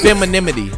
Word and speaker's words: femininity: we sand it down no it's femininity like masculinity femininity but this [ __